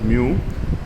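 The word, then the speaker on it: μ: In the letter one it is called pronounced as mu.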